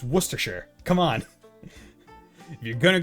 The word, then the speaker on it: Worcester: I'm from uh and you would think it's pronounced like War Chester or War sester but it's actually wer although that's with our